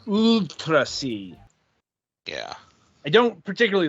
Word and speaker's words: UuultraC: you know the the it's denoting elongation okay of the vowel um that's remember that's what I remember John telling us so it's not ultracy it's utrasi yeah I don't particularly